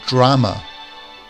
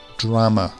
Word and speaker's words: drama: the middle perfect perfection we have drama drama the stresses at the start of the word whereas dramatic the emphasis